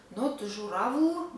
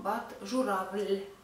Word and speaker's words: журавль: Also mind this soft sign in the end of the word. Letter L, we pronounce it L in this word because of the soft sign. Not журавль, but журавль, because of the soft sign in the end.